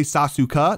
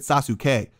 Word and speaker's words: Sasuke: comment this one said did this man just say sasuka no i said sasuke um i want to